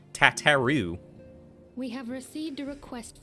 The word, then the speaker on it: Tataru: arrived but recently and no one will ever pronounce tataru that way again nope no i won't because it's tataru not tataru we have received a